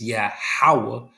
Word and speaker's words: Yahawah: It's Yahawah and Yahweh Shai, Yahweh Shai, and Yahawah, Yahawah, Yahweh Shai. No, Yahweh Shai, Yahweh Shai. Those are the names. That's how you pronounce them.